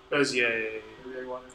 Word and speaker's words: Bezier: So it's French, Cartier, Poincaré, Bezier. Everyone try and say it? Bezier? Bezier. Bezier, yes. Am I wrong if I said Bezier?